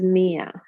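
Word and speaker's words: مِائَة: Note that miyatun, the alif is not pronounced. It is pronounced as mia.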